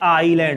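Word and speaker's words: island: इसमें एस जो होता है वो कैसा होता है? साइलेंट होता है। इसे हम क्या बोलते हैं? आईलैंड बोलते हैं।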